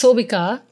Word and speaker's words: Sobika: Okay, my name is Sobika. Yes. It's Sobika. Well, that's how it's pronounced, but people get thrown off by how it's spelt. Right. So that's kind of why, because they like try, they end up butchering my name. Yeah. So I have to be like, it's Sobi, like the grocery store.